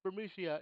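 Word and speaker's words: Burmecia: It's I say Bermicia, I hear Bermicia, and other pronunciations of that area. I will tell you this is Bermicia in the background.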